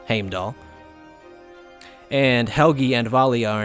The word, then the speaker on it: Heimdall: Heimdall is actually not pronounced as it is in the Marvel Cinematic Universe, it's Heimdall there, but here, the katakana is Heimdaru, and that's Heimdall.